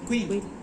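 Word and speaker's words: Quincke: Queen. ¿Quién que se tiene? Se escribe quinque, se dice queen.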